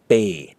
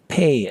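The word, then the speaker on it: ပေး: important by the way it's not the P sound from Peter Pennsylvania or Penn it is the B from spoon or spam so when you pronounce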